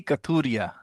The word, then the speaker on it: Kathuria: Is that correct, or did I pronounce it wrong? No, Kathuria.